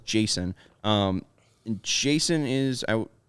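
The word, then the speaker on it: Jasson: is 20 years old two s uh yes two two s's but still pronounce Jason um and Jason is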